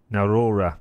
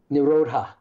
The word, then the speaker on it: nirodha: I love this part when you, in one of your guided meditations, use the mantra, yoga, chitta, vritti, narora. Did I pronounce that okay? Narodha. Narodha, okay.